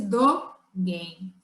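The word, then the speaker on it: Dōgen: Dogen fala, pronuncia-se Dogen.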